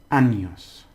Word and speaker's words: años: Años. Ñe. Remember the ñe.